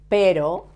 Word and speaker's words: pero: And notice that perro, dog, has a double R, but this word, pero, that means but, pero has a soft sound.